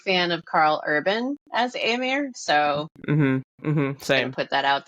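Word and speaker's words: Éomer: I might be saying it wrong because I've been saying Eamir. Oh, well, I say Eamor. I don't think it really matters deeply. You can follow your heart when it comes to pronunciations.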